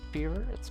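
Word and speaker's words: dengue: Oh, just fools you into thinking dang den. It's common in the rainy season in Malaysia.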